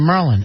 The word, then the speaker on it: Maryland: go yeah every summer i was in merlin and they were going where is that at i go you never heard the state merlin they also do balmer